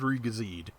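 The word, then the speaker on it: Re-GZ: And yeah, the ID supposedly stands for ideal, but according to the katakana, the name is pronounced Riga Z.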